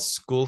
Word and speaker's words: Skool: If you just search for, I believe it's called School Communities, and school is spelled with a K, SKOOL.